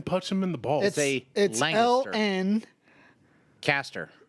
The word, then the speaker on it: Lancaster: them in the balls Lan n Caster like caster oil Lancaster which has a G sound